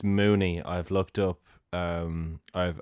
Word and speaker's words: Muni: Uh, I think that um it's actually it's it's Mooney. I've looked up um I've I've chat GPT Paul Mooney pronunciation and it's M O N E. So Mooney.